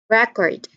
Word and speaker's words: record: And then when we stressed the second syllable of the word, that particular word will also be considered as a verb.